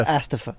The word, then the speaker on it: ASTF: Is it ASTF movies or Astafa? It's Astaf movies. That's how he pronounces it, apparently.